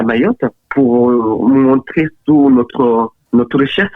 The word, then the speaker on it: Mayotte: Et je disais tout le temps, c'est Mayotte, pas Mayotte.